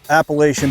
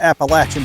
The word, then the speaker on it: Appalachian: and I went to called the Appalachian Bowhunter Challenge or the Appalachian Bowhunter Challenge, depending on how you say it.